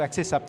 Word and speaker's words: Accès SAP: Vous êtes le président d'Acès SAP ou accès SAP, comment je dois le prononcer ? Accès SAP. Accès SAP, tout simplement.